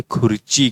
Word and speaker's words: खुर्ची: इसका भी जो उच्चारण है हम यहाँ पर दे चुके हैं, खुर्ची, KHURCHI। इस तरीके से उसका उच्चारण आप कर सकते हैं, खुर्ची।